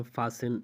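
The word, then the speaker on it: fasten: तो आप कहते हैं फासिन, लिसन, हैसिन, ऑफिन, तो इन चारों मिसाल में आप देख सकते हैं कि टी के बाद ई एन आया हुआ है, तो यहाँ पे टी को साइलेंट किया जा रहा है, खामोश किया जा रहा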